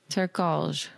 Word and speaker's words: Turkalj: Turkalj.